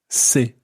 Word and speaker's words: ces: the plural version is say c-e-s SE now be careful not to confuse say CES with SE which sounds identical but is spelled s-e-s and that's the word that's used when you're saying his books for example or her brothers see when it's spelled c-e-s means these foreign which would be